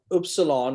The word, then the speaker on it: Upsilon: get that straight so Upsilon or U is always pronounced who in Greek it's never an issue it's always going to be ooh um so if you